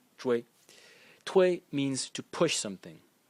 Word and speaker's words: 隹: And again, so you see that it's clear that zhui is giving the sound to all of these characters, because we have wei, sui, shei, dui, tui, right? And the title of character is pronounced zhui.